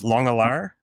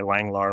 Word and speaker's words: Langelaar: I think the Dutch version is longar uh which is the way my parents say it but I just go by Langlar or Langalar.